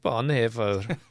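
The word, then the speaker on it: Bonhoeffer: Bon there's another way to pronounce it. Bonhaer is Bonhaer maybe is the more Bonhaer the official German way to say it.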